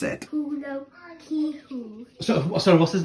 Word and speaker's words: Paulo Coelho: And therefore, I asked a Brazilian how to pronounce it. Paulo Coelho.